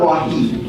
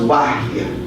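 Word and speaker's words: وحي: It's not wahi. It's pronounced wahy.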